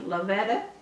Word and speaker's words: Lovetta: today we're in Shawnee Oklahoma to speak with Lavetta did I pronounce that right yes ma'am Lavetta and this is part of our Oklahoma